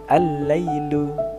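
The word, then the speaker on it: الليل: Kemudian ada huruf lam, al-lailu. Nah, al-lailu. Jadi alif lamnya itu tidak dibaca.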